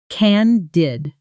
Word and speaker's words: candid: pronunciation can-did candid Notice the short A sound like in can, candid.